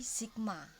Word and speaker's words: sigma: yang pertama adalah notasi sigma pengertian notasi sigma Salah satu cara untuk menulis jumlah dari suatu barisan bilangan dengan adalah dengan menggunakan simbol yang seperti ini dibacanya Sigma Jadi bukan seperti ea jadi simbolnya seperti